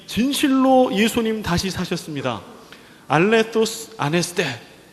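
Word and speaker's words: ἀληθῶς: 알레토스 아네스테, 알레토스라고 써져 있는데 요 헬라어 요 도는요 이 번데기 발음이에요. 영어로 th 이 이빨 사이에 혓바닥이 넣고 이렇게 뜨 하는 거.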